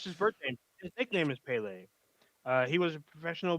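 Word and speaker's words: Pelé: and then last we have uh I believe it's pronounced Pele um I can't speak Portuguese so I believe it's pronounced Pele uh could we put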